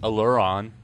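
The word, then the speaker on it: Alureon: it could be like aluron like well like the word Allure is a l l u r e and then o n aluron yeah aluron that could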